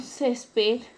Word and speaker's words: césped: El término césped, la sílaba tónica está en la penúltima sílaba y se tilda porque termina en una consonante diferente a N y S. Entonces viene a ser una palabra grave con tilde.